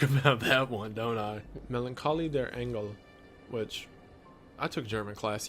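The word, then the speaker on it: Melancholie der Engel: have to talk about that one don't I Melancholy their angle which I took German class yeah that's how it's pronounced which translates to The Melancholy of angels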